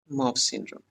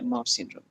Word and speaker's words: Mawsynram: World का wettest मतलब सबसे ज्यादा यहाँ पे बारिश होती है, उसका नाम है मॉवसिनराम। एंड एम ए, तो मैं इसके स्पेलिंग आपको डिक्टेट कर देता हूँ, MAWSYNRAM, मॉवसिनराम, जो कि इंडिया का और वर्ल्ड का वेटेस्ट प्लेस है।